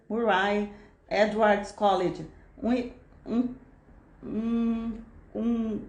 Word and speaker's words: Murray: Ela é bolsista do Cambridge Trust e está afiliada ao Murray, depois ela vê essa é a pronúncia, Murray Edwards College, um, um, um college exclusivo para mulheres.